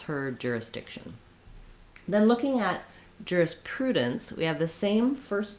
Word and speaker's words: jurisprudence: think about the sounds, jurisprudence, but I'm not really making much vowel there. That's just the result of moving from the D position to the N position and making the N sound a syllable.